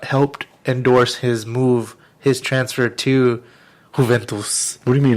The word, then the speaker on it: Juventus: And It's actually Juventus. Gotta pronounce it in Spanish, man.